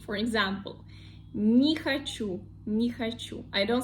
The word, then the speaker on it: не хочу: If this one is unstressed, we pronounce it like E. For example, не хочу, не хочу.